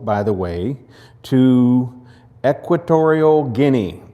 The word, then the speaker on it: Guinea: He uh wanted to go, and we helped him go, by the way, to Equatorial Guinea. That's really the way you pronounce it, like guinea pig.